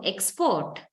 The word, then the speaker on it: export: us okay so export if you have uh the first syllable much more heavier than the second one then you mean the noun but if the second syllable is more heavier or stressed then that is the verb okay so this will